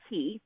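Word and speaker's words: Qi: used the word, and I actually pronounced it key, Q-I. It looks like a 1 because it's capital. Oh, okay. But it's Right. Q-I. Also sometimes pronounced chi, and that's usually when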